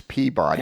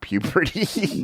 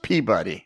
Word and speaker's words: Peabody: years I have a copy of that it's Peabody it's Peabody not puberty no it's it is not pronounced puberty it's pronounced peab buddy my my my assistant chief was from there